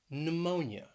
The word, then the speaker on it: pneumonia: couple of words that begin with a silent p and both of these words have three syllables so the first one is pneumonia pneumonia that stress is on that second syllable pneumonia then we have pseudonym